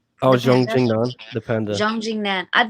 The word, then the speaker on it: Zhang Jingnan: No, how do you pronounce her name? Oh, Zhang Jingnan, the Panda.